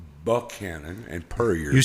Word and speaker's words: Buchanan: It's Buchanan and Puryear.